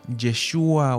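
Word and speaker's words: Yeshua: pasada cierto veíamos que ese nombre Jesús que se pronuncia jeshua o yahua quiere decir Dios salva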